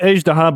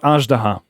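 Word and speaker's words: Azhdaha: Paimon, for the first time, actually called Ejdaha by the name, and not Ajdaha. She first time pronounced it right.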